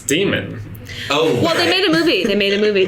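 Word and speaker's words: daemon: Compass but about this Damon Damon I always pronounce it Damon it's d like em I like Matt Damon Damon I said Damon to gammon its demon oh they made a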